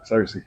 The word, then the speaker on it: Searcy: Searcy, did I say it right? Searcy.